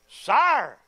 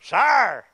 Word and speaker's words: sire: Sire. That sounded country, didn't it? Sire. Two syllables.